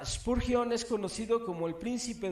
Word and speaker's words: Spurgeon: se escribe es ese punción ese purgión se pronuncia spurgion es conocido como El príncipe de los predicadores